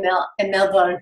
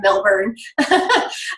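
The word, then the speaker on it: Melbourne: I have family and milk and no bones I have to say it correctly right not English way of Millburn but it's such a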